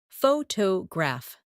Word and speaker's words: photograph: In English, some words are pronounced with extra emphasis on one part. For example, photograph, photographer, and photographic. The stress moves, and that changes the sound.